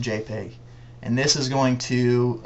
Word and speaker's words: JPEG: to choose is this Dot jpg and it's pronounced JPEG and this is going to account for I